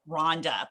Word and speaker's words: Rwanda: heard it's also called rhonda but that is idea yeah so it is pronounced that way it is yes yes the phonics teacher in me has to say the w but you are correct